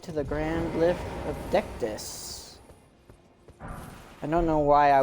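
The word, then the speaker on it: Dectus: we've made it to the Grand lift of decdis I don't know why I was getting Ducatis out of that but ductus is how it's pronounced and you know typically if we wanted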